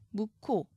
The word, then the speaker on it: 묵호: 예를 들어 묵호, 체언이죠. 명사입니다. 기역 뒤에 히읗이 와서 발음할 때는 키읔으로 소리 나더라도 체언이기 때문에 히읗을 적어주셔야 합니다.